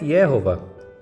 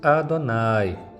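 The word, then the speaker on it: YHWH: que ela não existe isso aqui não é yova isso aqui com as vogais não é yova isso aqui continua sendo impronunciável até os dias de hoje pronuncia-se Adonai Como disse significa o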